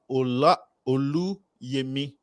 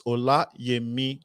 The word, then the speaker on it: Olayemi: We are talking to Dr. Oluyemi. No, it's Olayemi Champion-Odusola.